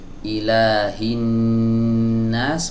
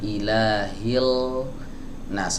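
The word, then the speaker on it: إِلَٰهِ النَّاسِ: Maka huruf lam yang ada di sini digugurkan pelafalannya, tidak dibaca. Ya, tapi dia tetap ditulis. Ilahin nas, bukan ilahil nas, lamnya tidak dibaca.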